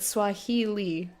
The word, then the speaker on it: Swahili: Notice that even the word Swahili, E-E, and it's spelled I-L-I.